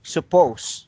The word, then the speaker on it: suppose: words so here the the last letter is letter e however it's silent you don't pronounce it you say suppose so the the last